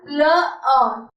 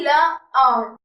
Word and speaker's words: le haut: So for up there we have le haut. Le haut. H is silent, H is mute, so it will be le haut.